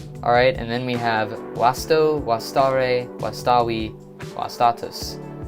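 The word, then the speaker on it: vasto: This word is easier to remember if you pronounce the word with this V as that W sound. That's how most Latin words are supposed to be pronounced, but it helps you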